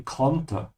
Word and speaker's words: konnte: There's no umlaut here, so it should be konnte.